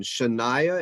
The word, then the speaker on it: Shania: is the next one Shania is that how you say it yeah it's like the country so no Chanel alright